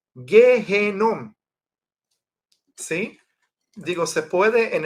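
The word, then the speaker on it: גיהנום: pronuncia Gai ben Hinnom, pero a veces se le quita el ben, el hijo de, y queda nada más Gehenom, ¿sí?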